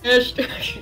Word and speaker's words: asterisk: You said it wrong. Fucking say it again. Asterisk. Asterisk. That's better.